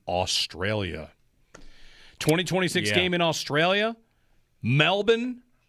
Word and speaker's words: Melbourne: My cousin called and said, this is how you say it. He lives in Melbourne. Even though there's an R. That's right. Silent R.